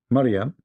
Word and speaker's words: Mariam: Mariam, not Mary, Mariam, the sister of Aaron.